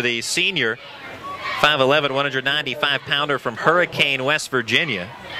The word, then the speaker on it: Hurricane: The pass intended for Cam Cooper, the senior, 5'11", 195-pounder from Hurricane, West Virginia. It's pronounced hurricane.